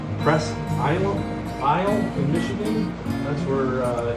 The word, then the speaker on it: Presque Isle: these all up on I believe you pronounced it press is aisle in Michigan that's where